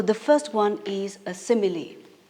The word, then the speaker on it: simile: So the first one is a simile. We pronounced it as simile and not simile.